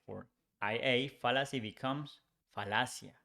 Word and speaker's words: falacia: We change Y for IA, fallacy becomes falacia. Here it's important to say that double L becomes just one L in Spanish, but it's pronounced the same.